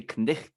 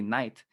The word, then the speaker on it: knight: We don't say knicht anymore. We say knight, Yeah. knight in shining armor. uh, but we still spell it like that because of its history.